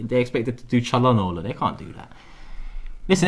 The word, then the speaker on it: Çalhanoğlu: And then you see the OGLU, that's Olu. Çalhanoğlu. Çalhanoğlu.